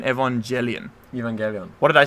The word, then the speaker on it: Evangelion: the what's the like isn't there a soft G in Evangelion Evangelion what did I